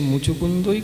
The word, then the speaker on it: মুচুকুন্দ: আমি দেখতে পাই না, ভালো করে উচ্চারণ কর। হ্যাঁ ঠিকই বলেছে। মুকুন্দ বললি মোচকুন্দ বললি, যাই হোক ঠিকই বলেছে।